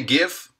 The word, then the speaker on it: GIF: Jeff you say GIF because the G stands for graphics it's not jaffal it's graphical uh hey don't even get